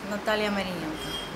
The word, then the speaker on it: Nataliia Marynenko: Is that pronunciation right? Yes, Nataliia Marynenko.